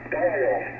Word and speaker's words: Doyle: Dole or D? How do you pronounce your name? Doyle.